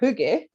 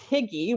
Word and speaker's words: hygge: Okay, so we all remember Hygge, or it's spelled Higgy, which is how I thought it was pronounced for a long time.